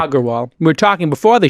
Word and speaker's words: Agarwal: Hit that G on the second one. You hit it. Perfect. Agarwal.